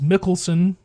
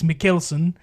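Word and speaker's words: Mikkelsen: Uh specifically Casino Royale, one of my favorite Bond films which stars Mads Mikkelson. I say I've been saying his name wrong for so long. It's Mikeson. Um he came out stud of a man.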